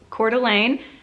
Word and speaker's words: Coeur d'Alene: If you've ever seen that spelled out and had no idea how to pronounce it, it's Coeur d'Alene, and it's okay if you never learn how to spell it right, because I definitely have never.